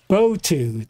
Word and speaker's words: Botu: Oh, Botu, that's how you pronounce his name.